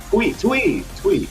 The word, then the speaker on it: Twee: incorrectly, but we have Twee, I believe. And Twee is going to be operating the Cloud. So not Tweak, but we got Twee.